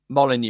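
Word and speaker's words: Molineux: Molyneux.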